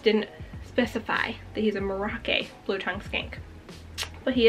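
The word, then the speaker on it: Merauke: pronounce it, I think Merake? I watched a bunch of YouTube videos before filming this to see how people pronounce it. I thought it was Merak, but everyone was saying Merake.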